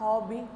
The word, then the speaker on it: हॉबी: हमारा जो second chapter है बात हॉबी की. सबसे पहले तो आप इसका प्रोनाउंसिएशन देखिए. ये है हॉबी. हम इसे इसके ऊपर जो आगत स्वर लगा है इसमें चांद बिंदु नहीं है, ये अनुनासिक नहीं है जिसे हम चांद बिंदु बोलते हैं.